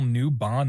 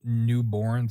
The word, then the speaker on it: Newbon: totally mispronounced Neil's name it's Neil newbond not Neil newborn sorry uh Jennifer English